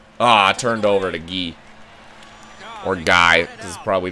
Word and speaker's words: Guy: wasn't paying attention ah I turned over to ghee or guy CU probably not French I don't know in my opinion I hate the name when I hate when people pronounce it guy even if you're not French it's a French